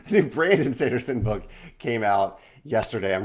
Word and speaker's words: Brandon Sanderson: Is it Brian Sanderson? No. The new Sanderson book. Brandon, not Brian. The new Brandon Sanderson book came out yesterday.